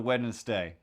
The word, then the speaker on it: Wednesday: gonna drift over to wednesday i have a hard time not saying the niss in wednesday uh when it's it's just wednesday w-e-d-n-s-d-a-y then when's even just w-e-n-s-d-a-y is probably fine i'm tempted to start